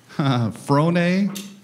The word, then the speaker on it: Frohne: So, everybody, I'd like to thank Rob Frohne. He says it rhymes with baloney, and I just think that he's not full of baloney.